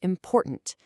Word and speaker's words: important: Let's see this in action with the word important. The main stress slams down on that middle syllable. Important. And notice what happens to that final syllable, tant. It becomes weak. It kind of fades away.